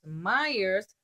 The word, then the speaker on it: Meyer: It will be easy to remember my name because Myers rhymes with fire.